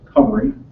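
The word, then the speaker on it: Cymru: One is Team Cumry, and it is pronounced Cumry. Not obviously, but that's the way we say it.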